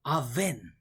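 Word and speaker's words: אָוֶן: If it's of unjust act, then aven, which rhymes with vain, in leading to add unrighteousness, therefore in vain, to pant, to exert oneself in righteousness, which is vain.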